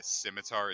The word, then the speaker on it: scimitar: no because like I tell these people it's pronounced scimitar and they want to be an [ __